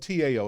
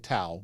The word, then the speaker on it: Tao: Now, it's spelled T-A-O. It looks like Tao, but it's Tao.